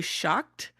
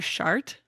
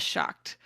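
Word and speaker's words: seacht: apparently pronounced closer to shocked, or they said depending on where you're at in Ireland. In some places in Ireland, it's pronounced closer to shocked, but if you are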